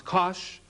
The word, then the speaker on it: cosh: hyperbolic cosine written c o s h and pronounce kosh cosh t is x and the hyperbolic sign